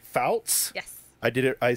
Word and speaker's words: Fouts: have I want to make sure I pronounce your last name right Fouts I did it I said it right perfect